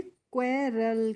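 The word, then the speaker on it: quarrel: यू A double R E एल तो इसको पढ़ेंगे क्वेल क्या पढ़ते हैं क्वेल पढ़ते हैं और क्वेल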